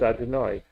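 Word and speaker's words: אֲדֹנָי: I'm just confused about that Come word with the yod hey and then the vav with the kamatz under the vav. That's pronounced Adonai.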